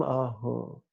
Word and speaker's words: Ah: Remember, that's a soft A.